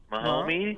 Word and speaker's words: Mahomes: Mahomes, Holmes, Holmes.